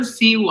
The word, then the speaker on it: Siwa: Jojo Siwa.